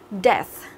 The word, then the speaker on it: death: Death, death. Ok, đấy thì EA ở đây mình đọc là âm gì các bạn? Mình đọc là âm E, đúng không?